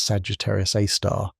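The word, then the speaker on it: Sagittarius A*: At its very center, we find a super massive black hole known as Sagittarius A, pronounced Sagittarius A star.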